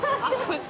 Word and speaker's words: Aqus: Aquas Cafe.